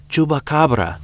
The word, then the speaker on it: Chupacabra: It's Chupacabra.